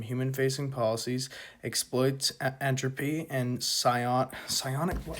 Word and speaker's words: psionic: / signaling game, so publicly pose as loyalists, so your gamma's at 0, privately invest in Gloober technology and psionic infrastructure, mislead competitors into over-investing in obsolete capital and human labor.